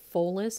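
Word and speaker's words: follis: from a latin word i believe it's pronounced fullest it's spelled f-o-l-l-i-s forgive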